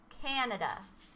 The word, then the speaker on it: Canada: Harry can Canada now listen to how I pronounce it Canada Canada can you hear where the emphasis is